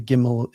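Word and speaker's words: גימל: The the gimmel is the g with god.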